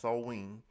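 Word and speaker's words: Samhain: like Sam ha a GIC or Gaelic word pronounced soen is a pagan religious Festival originating from an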